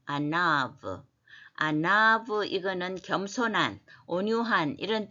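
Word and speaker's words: עָנָו: 뭐냐 예 아 일자처럼 된게 이 때문에 브로 발음합니다 아나 예 아나브 아나브 이거는 겸손한 온유한 이런 뜻인데 미크 예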